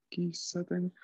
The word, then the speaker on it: 喫茶店: Kisaten. Kisaten es como un pequeño su y la sílaba sa. Ki, pequeño su, sa y luego ten.